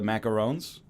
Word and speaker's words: macaron: So it's a very French show today between the Serge Gainsbourg and the macarons. Macaroon. Well, Macaron. in French it's macaron.